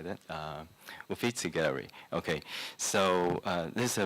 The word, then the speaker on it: Uffizi: Uffizi Gallery.